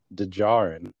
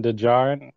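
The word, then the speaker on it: Djarin: d is out uh how do you pronounce his name is it den dejar or is the d science i think i think the d is silent so is then den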